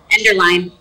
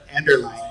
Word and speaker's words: Enderlein: Enderlein. Enderlein. Spelled lean. Spelled lean. Pronounced line.